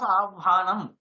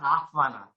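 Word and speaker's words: आह्वान: And so anyway, in the others, Avhana, it should be, not Ahvana.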